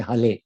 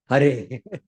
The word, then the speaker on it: Hare: They say Hale. They cannot say Hare. So even if they are pronouncing like that, still they will get the benefit of chanting Hare and they will be delivered. But for us, Indians, we have to pronounce Hare.